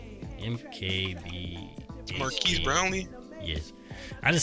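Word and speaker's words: Marques: Marquez. MKB. Marquise Brownlee?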